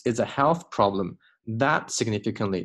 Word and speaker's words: significantly: a health problem that significantly 这个 t 弱化 significantly 这个 t 不要读成了 significantly 这个 t 千万不要读过于清楚 significantly affects how a